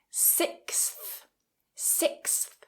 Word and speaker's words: sixth: this word sixth so like a snake like stick your tongue out between your teeth sixth sixth now in Rapid speech